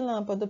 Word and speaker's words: lâmpada: está acentuada então no caso de lâmpada por exemplo qual sílaba tá tá acentuada é um lan não é isso então essa aí já há nada mais forte da palavra então toda vez que